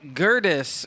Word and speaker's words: Gerdes: Before we get started, is it Craig Gerdes or Gerdes? No, it's Gerdes, as in like Curtis with a G. Okay, like a girdle, but it's Gerdes.